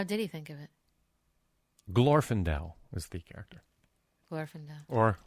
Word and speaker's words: Glorfindel: Glorfindel is the character. Glorfindel. Or Glorfindel, depending on who you are and how you say it.